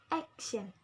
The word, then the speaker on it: action: Action, the stress at the act.